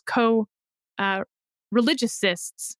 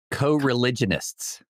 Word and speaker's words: co-religionists: against some of his co-religiousists. How do you say that, David? Co-religionists. Religionists is the N. Religionists, yes.